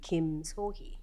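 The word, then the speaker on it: Kim Sohui: to you earlier that in Korea we say our surnames first so really in Korean my name is Kim sohi or the actual softer pronunciation uh using that language would be Kim sohi so it's a little softer but anyway so he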